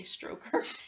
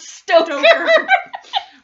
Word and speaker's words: Stoker: Yeah, because I want to say Stroker. That's dirty. It's dirty. Bram Stoker. As in Toker, but Stoker.